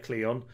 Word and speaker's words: Cleon: a yes cleo all for that was terribly pronounced uh this is called in uh cleon just uh because he is the enemy cleon